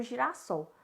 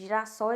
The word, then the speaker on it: girassol: A gente tem aí um acréscimo de um S por causa da pronúncia, né? A gente sabe que um S entre duas vogais, a nossa pronúncia fica Z, né? A pronúncia de Z. Então, para não ficar Z, a gente acrescenta-se mais um S.